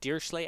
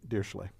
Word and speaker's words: Dirichlet: D, you can think Dirichlet. Which is the computer science pronunciation. Other people pronounce it differently. Yes, because the correct way of pronouncing it is sort of beyond it has another syllable in there.